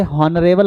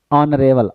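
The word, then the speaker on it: honourable: इसे हॉनरेबल नहीं पढ़ेंगे। ठीक है? जैसे ये होता है ऑनेस्ट। इसे ऑनेस्ट पढ़ते हैं। ऑनेस्ट नहीं पढ़ते हैं। ठीक है? ये गलत प्रोनाउंसिएशन होती है। इसको हम क्या पढ़ेंगे? ऑनरेबल।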